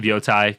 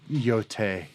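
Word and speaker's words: Yōtei: So, my game of the year is of Ghost of Yotai cuz it was one of the few No, no, it's called Yote.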